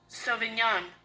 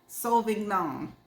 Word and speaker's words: Sauvignon: Sauvignon. Oh, no, I ain't pronounced that right. Sauvignon.